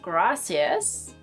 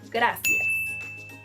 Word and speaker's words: gracias: If you're thinking that the pronunciation of this word is gracias, I'm sorry, but no, that's not how to say gracias.